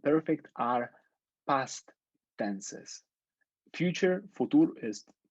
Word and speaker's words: Futur: Future, futur it's pronounced futur, not future.